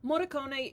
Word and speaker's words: Morricone: that was fucking Ennio Morricone. Yeah. If I pronounced that wrong, I'm sorry. I got a D in Italian, and no, not in the funny joke way. No, Morricone is how it's pronounced.